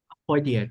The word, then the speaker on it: Apoidia: Apoidia, that's right.